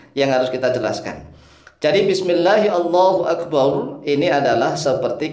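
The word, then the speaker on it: بسم الله: Yang pertama kita membaca bismillahi, hi-nya dibaca. Ya jangan bismillah begitu, jangan.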